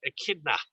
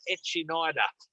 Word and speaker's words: echidna: So echidna, so we have had people say, oh, is this the echinida? That's obviously not how we say it.